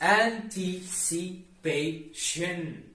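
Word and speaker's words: anticipation: last part wrong it's anti-cipation remember guys t-i-o-n is always Shin at the end of verse should always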